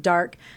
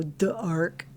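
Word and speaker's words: D'arc: anyways, okay, you've got dark. I've never known how to pronounce it. It's a D and then an apostrophe ARC, but I sound mean if I go dark. That doesn't sound very nice.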